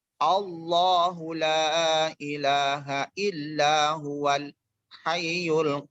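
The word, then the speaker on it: الله: ya di sini dikatakan Apabila ada kalimat Allah berada di awal kalimat atau Susunan kalimat macam maka dibacanya huruf tafkhim tafkhim itu seakan-akan huruf awal Ahu Allohu laa ilaha illa huwal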